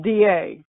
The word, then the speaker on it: Digue: It's pronounced D-A, D-A.